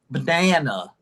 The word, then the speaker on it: banana: The middle A has the 2, which is really the strongest. Nothing gets stronger than 2. The last A is a 1. What about the first A? Mm, Banana. Banana. What about the first A? What level would you give it? A 2, a 1, or a 0? 1. No. Uh, It has no sound. The word, you could spell banana Bnanu, actually, if you wanted to.